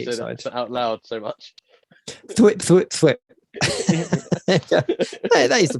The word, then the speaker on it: thwip: Thwip. That is the pronunciation.